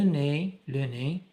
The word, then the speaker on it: nez: Les terminaisons de EZ ou bien la syllabe EZ qui se prononce comme A, le nez, EZ prononce comme A,